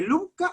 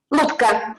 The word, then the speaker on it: Lubka: ¿Cómo se dice, Lubka o Lubia? Sí. ¿Cómo se pronuncia tu nombre? Lubka. Lubka. Sí, en realidad me llamo Lubomira, pero bueno, Lubka es, sí.